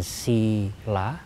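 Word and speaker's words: sīla: Hanya sinya panjang ditulis dengan strip di atas, diucapkan sila, artinya perilaku yang sesuai dengan moralitas atau perilaku baik.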